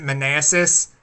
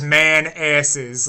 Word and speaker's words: Manassas: Oh, I think they pronounce it Manassas, but I'm like, no, that sign says man asses.